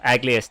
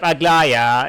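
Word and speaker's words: Aglaea: Just as I just as I pronounce uh Aglia's name instead of Agllaya, it's Aglia.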